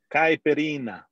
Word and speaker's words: Caipirinha: Caipirinha, is that how we pronounce it? Caipirinha.